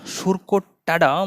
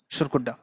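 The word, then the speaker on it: Surkotada: দেন সুরকুড্ডা, অর্থাৎ সুরকোট্টাডা মনে হচ্ছে প্রোনাউন্সিয়েশন হবে, কিন্তু প্রোনাউন্সিয়েশন হতে হবে সুরকুড্ডা।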